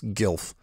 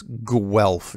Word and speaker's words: Guelph: to let you know you were pronouncing Guelph like this GILF however it should be pronounced like this Guelph G wel F when you list where